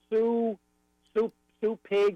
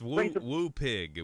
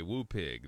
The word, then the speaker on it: Woo Pig: Now, what's the right term? Sue Pig or Sue. How do you say that? It's Woo Pig. Woo Pig.